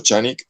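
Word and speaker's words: Canik: Bueno, Chanik que se escribe Chanik, que es el con C, pero se pronuncia Chanik, que es el nombre de un fabricante de armas y es también ahora tiene servicios.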